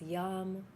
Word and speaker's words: yam: pink or both colors swirling together the seed syllable is yam y a m we can go just a